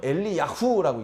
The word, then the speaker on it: 엘리야후: 원음대로 하면 엘리야후라고 읽습니다.